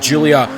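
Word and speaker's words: Giulia: the new alfha rero Julia quadrifolio I believe that's how you pronounce it I don't think you pronounced the G uh I know a lot of you guys were saying that and you were getting on me about saying the G in the name but it's the quadrifolio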